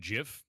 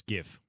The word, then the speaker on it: GIF: If you pronounce it Jif, he also the villain of the... Wait, what? Oh, villain of Zelda is now Janendorf? Ah, yes. Janendorf. Yep. It's GIF.